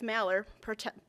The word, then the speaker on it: Mallard: Mallard, pronounced words, like the duck Mallard, is all of that to me.